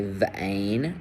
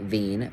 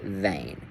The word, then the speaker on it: vein: So we have EI, which can be done depending on how it's spelled, So for the word vein, you're hearing it as a long A, vein, not veen, but vein.